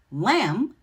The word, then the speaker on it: lamb: Lamb has a silent B, and night has a silent GH.